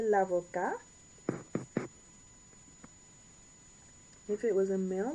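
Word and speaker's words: avocate: A female lawyer, l'avocat, with an E. And you pronounce the T because of the E.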